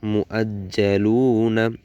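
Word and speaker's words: مُؤَجَّلُونَا: লু, নুন জবর না, মু আজ্জালুনা। আমি আরেকবার বলছি, এখানে যে ওয়াওটি আছে ওয়াওটির উচ্চারণ হবে না, সরাসরি হামজার উচ্চারণ হবে।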